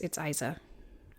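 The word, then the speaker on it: Eiza: I want to say it's Isa. E-I-Z-A.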